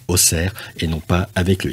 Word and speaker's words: Auxerre: er mais en réalité on devrait plutôt le prononcer oxer vu qu'il y a un X aujourd'hui et